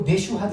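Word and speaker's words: Mashhad: 마샤드. 그 영어 발음으로 메슈하드 이러는데 메슈하드. 근데 그냥 이 글자들을 읽으면 마사드라고 뭐 읽을 수가 있는데, 자 여기에 해당된다는 거예요.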